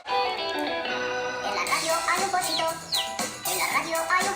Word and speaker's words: pollito: Alors vous avez vu, moi je le prononce pollito, tandis que dans la version que je vous ai envoyée, on entend plus pochito. Tout cela dépend des accents régionaux, on en a déjà parlé. Donc vous devez le prononcer comme lorsque vous dites me llamo.